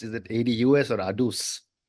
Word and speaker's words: ADUS: So, Patrick, before we talk about, and I'm not sure how you pronounce, is it ADUS or ADUS?